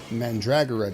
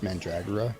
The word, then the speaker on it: mandragora: The mandragora doesn't like it. Captain, did you just use .hack as a guide for how to pronounce mandragora? Yes, I did. It's mandragora, you uneducated plebe.